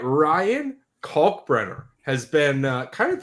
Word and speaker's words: Kalkbrenner: U but uh anyways, uh Kulk Brener with a you know, really got to pronounce that L in there. Kulk Brener uh is a January 17th, 2002 birthday.